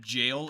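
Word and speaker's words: gaol: once or twice but jail is spelled g-a-o-l that threw me off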